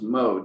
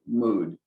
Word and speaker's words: mood: When we talk about mode or mood, sorry, I learned to pronounce this grammatical term as mode and not mood, but I've since had to learn better that most grammarians do say mood.